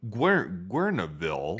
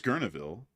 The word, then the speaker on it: Guerneville: We're in Guerneville, I think it's pronounced. I think it's Guerneville. Maybe so, possibly. Yeah, I think the U is silent in that, or the E is silent or something.